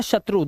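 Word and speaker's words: shoe: फो मतलब होता है शत्रु। दुश्मन। ठीक है? बहुत अच्छा वर्ड है ये। रो वो एलो फ्लो और जो ठीक है? लेकिन कुछ वर्ड में ओ ई का उच्चारण उ हो जाता है।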